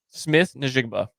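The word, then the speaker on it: Smith-Njigba: Jon Smith how do you say his name Smith nigba yep okay yeah it's it's it's interesting because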